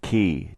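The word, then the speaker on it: chi: K and I respectively which is pronounced key just like the Greek letter for X spelled c-h-i key is across and to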